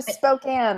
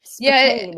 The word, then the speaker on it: Spokane: They go to Spokane or Spokane if you're Scribe. He needs to learn how to pronounce things really badly.